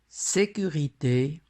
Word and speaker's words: sécurité: prononcé ces deux mots sécurité portière dans le mot sécurité le ix est fermé nous observons qu'il y a un accent aigu sur le e par contre dont le